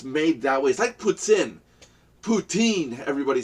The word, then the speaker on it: poutine: it there because it's made that weighs I puts in poutine everybody says this routine is not the proper pronunciation it's puts in and it does not taste like puts in